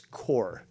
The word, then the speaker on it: Corps: bullsey it's core now yes you are pronouncing it like it's supposed to be which is the French because it comes from the the you know French because it you know that's where the word corpse comes from cope okay but